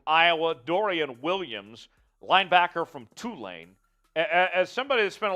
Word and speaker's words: Tulane: Dorian Williams linebacker from Tulane as somebody has spent a lot of time in Louisiana will you would know this it's not Tulane it's Tulane it's Tulane it is it is two lane uh make no mistake